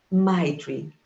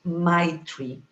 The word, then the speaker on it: Maitri: Maitri. This is the word. Short, sweet. You have to smile to pronounce it. Maitri.